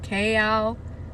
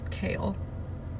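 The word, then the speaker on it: Chaol: Elena sardothy and saying that's like kale okay out kale kale Westfall Dorian have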